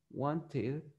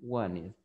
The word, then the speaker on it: wanted: Decíamos que want termina con T en el presente. Entonces, si yo quiero pronunciar el pasado, yo lo voy a pronunciar con id. Y yo voy a decir wanted or wanted.